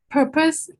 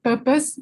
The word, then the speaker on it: purpose: Purpose should be just purpose without the R, because some people pronounce it as purpose.